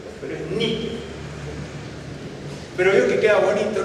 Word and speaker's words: Nike: con todo respeto, ay, Nike, qué sé yo, pero no, ni Nike ni Nike, es Nike, porque esa es la pronunciación griega.